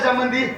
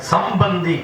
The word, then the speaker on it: சம்பந்தி: அப்படின்னா அவரும் சாப்பிட்டு போறாரு சம்மந்தினா உச்சரிப்பு தப்பு ஓஹோ ஆமா சம்முன்னா நல்ல மந்தினா குரங்கு வாங்க நல்ல குரங்கு அவரும் ஆமா குரங்குன்னு சோறு அப்படி சொல்லக்கூடாது எப்படி சொல்லணும் சம்னா நல்ல பந்தம்னா உறவே வாங்க நல்ல உறவேன்னு சம்பந்தி சம்பந்தி மானாவரம் அப்படின்னா தமிழ் எப்படி